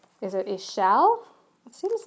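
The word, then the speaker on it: Ix Chel: can find it here there it is it's pronounced e shell okay and she's actually a Mayan goddess she's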